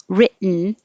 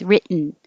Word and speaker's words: written: differences with individual words so written is actually where is it here written you don't say the t's at all you put your tongue up in the t position rit and then you just make the noise written and feb you don't